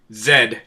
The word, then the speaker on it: Z: Zed to our any Canadian listeners we may have. Y'all pronounce Z weird.